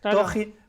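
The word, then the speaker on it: 토지: Hay gente que dice Toji, esto como nos sale la J así española, Toji, y yo siempre el libro de Toji. Exacto. Ellos dicen Toji.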